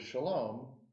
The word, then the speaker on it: Chalom: And in French, the word shalom is spelled with a CH, like chateau or champagne. Oh. So if the British had been in control of Syria, I would have spelled my name with an S.